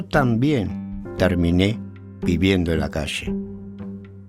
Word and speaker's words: calle: They pronounce their double L's and Y's with a sh sound, as in ayer or calle, instead of ayer or calle.